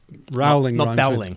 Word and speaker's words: Rowling: rolling no yeah yeah rolling rhymes with bowling Rowling growling okay put G on the front of it be growling but um so uh